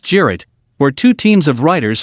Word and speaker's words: cirit: traditional turkish horseback game cirit pronounced jarrett where two teams of